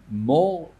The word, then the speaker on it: מור: Et donc, alors, en général, mort, ça désigne la mire. Mais à ne pas confondre, si on l'écrit sans vav, à ne pas prononcer mar.